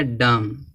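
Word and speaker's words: dumb: यम के बाद बी बी क्या होना चाहिए साइलेंट क्या पढ़ा जाएगा डम डम पढ़ेंगे इसको डम माने गूंगा होता इसी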